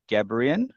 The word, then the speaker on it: Gebrian: Our guest for today is Gebrian. Is that how you say it? Is that how you It like to is, pronounce it? yeah. Okay. Very good. I'm impressed. Most people say it wrong, so Okay.